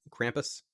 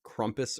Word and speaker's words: Krampus: one uh because of krampus speaking of pronouncing names i had said like krumpus or something at some point someone made sure to point out that it's krampus which sounds awful to me thanks eyes wide